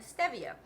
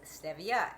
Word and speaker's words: stevia: ariol cocoa butter and Stevia some people pronounce it Stevia it's actually Stevia the reason I know